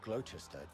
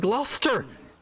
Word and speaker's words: Gloucester: Worcester and Gloucester. It's Worcester and Gloucester. How the fuck can you not pronounce them properly?